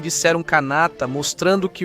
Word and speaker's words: Kanata: É uma palavra iroquesa, originalmente escrita e pronunciada como Kanata.